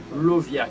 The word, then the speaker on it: Lauviah: Nous comptons pour le 17e génie qui c'est Lovia qui s'écrit L-A-U-V-I-A-H.